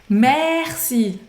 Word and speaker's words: merci: Merci não é Merci o som Ele é bem abertão Merci Mercy Mercy e esse